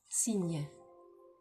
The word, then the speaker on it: cygne: Cygne. Cygne. Cygne. Cygne. Cygne. Cygne. So, c'est aussi un nom masculin. So it's also a masculine noun. So, un cygne could sound like you're saying a sign, or in French it